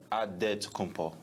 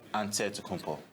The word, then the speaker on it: Antetokounmpo: how you pronounce it the nigerian way you gotta say with the d so it's a dead compo but in the greek way you say with the nt like antetokounmpo whatever you got just